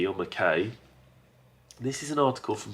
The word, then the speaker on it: Mackay: Mackay or "McKay".